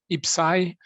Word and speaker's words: IPCEI: you're in a re ipci can be pronounced ipsai if like me you